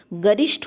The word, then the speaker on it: गरिष्ठ: और अगला शब्द जो है गरिष्ठ, गरिष्ठ होता है, गरिष्ठ नहीं, टा का प्रोनाउंसिएशन गलत है, गरिष्ठ शब्द क्या है, शुद्ध है।